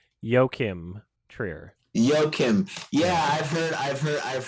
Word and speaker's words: Joachim Trier: the world review i searched up how to pronounce it and my finding was yokim trier yokim yeah i've heard